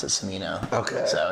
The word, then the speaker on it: Cimino: correct it like Italian style would be like chimino but like I pronounce it Sino okay so it's fine yeah you can yeah